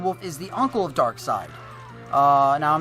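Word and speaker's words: Darkseid: Now, we've talked about this before and I pronounced it wrong a while ago. Justice League villain is rumored. Dark Side.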